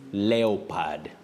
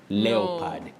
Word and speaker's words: leopard: Is leopard. Leopad.